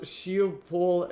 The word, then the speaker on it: Schiphol: It's pronounced Schiphol Airport.